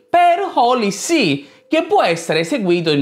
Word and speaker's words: HolyC: Holly appunto significa sacro ma Holly S si pronuncia esattamente in Holy C scritto in questa maniera che vuol dire letteralmente Santa Sede Tuttavia questo è cambiato